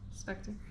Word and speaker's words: Spectre: Spectra, right? How you pronounce that? How you pronounce that? Spectre.